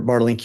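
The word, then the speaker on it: Bartelink: And am I saying that correctly? It's Bartlink? You pronounced it perfectly. Nice, thanks. So, Dr. Bartlink, you've already, I think,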